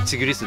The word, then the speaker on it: ティグリス: でそのこれの販売元に何て読むのかって問い合わせユーチューバーの方がいるんだけどたらその発音の音声まで送ってきてくれなってうんたらタイガーよりのチグリスだったっていう話